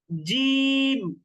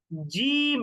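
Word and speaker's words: ج: আচ্ছা, এই 3টা হরফকে একটু আমরা কঠিন ভাবে উচ্চারণ করব, শক্ত ভাবে। জিম, জিম, একেবারে গম্ভীর উচ্চারণ কিন্তু, জিম।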